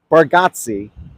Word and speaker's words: Bargatze: there's a comedian, Nate Bargatze. I hope I'm not Bargatze. Bargatze. Pronounce Bargatze. My New York comes out, I would have said Bargatze, right? But that's not how you say it.